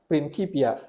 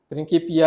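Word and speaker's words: Principia: Dulu saya baca ini prinsipnya, tapi ini kan bahasa Latin. Ternyata saya baru tahu belakangan eh setelah sekian lama saya baru tahu ini bahasa Latinnya dibacanya prinipia. Prinky. Nah, prininkipia. Prinkipia eh matematik eh natural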